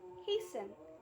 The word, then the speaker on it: hasten: No T is heard in fasten, hasten, which makes them rhyme with arson, mason.